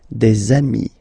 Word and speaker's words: amis: Okay, and if you make the liaison, so the link between the two, you will get des amis.